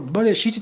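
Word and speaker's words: בְּרֵאשִׁית: Essa palavra Bereshit tem 2 sílabas, Bereshit.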